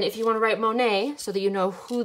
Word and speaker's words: Monet: you want to write monet so that you know who the artist was that we talked about m o n e and then there is a silent t at the back m o n e